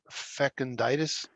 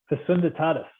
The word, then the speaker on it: Fecunditatis: How do you pronounce that? Fecunditis? Fecunditatis.